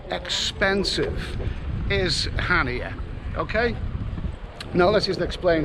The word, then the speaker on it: Chania: Spelt CHANIA, pronounced Hania.